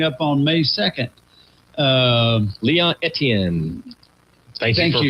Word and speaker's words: Etienne: Leon Etienne. Thank you for pronouncing that, because I did not know. That's right. Yeah. E Tiny.